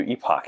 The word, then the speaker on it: Epoch: and Dante were debating he told me that the word is actually epic yes it's usually pronounced epic EP C but um they do Epoch here so so I can